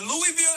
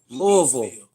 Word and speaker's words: Louisville: Next is in Kentucky, but Louisville IS THE OWNER AND OPERATOR OF KENTUCKY.